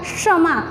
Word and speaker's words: क्षमा: का श है ना, उसका उच्चारण क प्लस ये मूर्धन्य श का उपयोग होगा। तो कैसे बोला जाएगा, क्षमा। अपन नॉर्मली बोलते तो हमें समझ में नहीं आता, लेकिन ये ऐसा ही होता है।